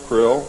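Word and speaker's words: Krll: His name and title was his omnipotent highness krill, pronounced krill, spelled k r l or c r l.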